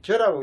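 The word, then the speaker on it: 諸: 실저할 때 모들 제자가 이게 모두라 할 적에는 제라고 발음하는데 전치사가 될 적에는 저라고 읽어야 됩니다.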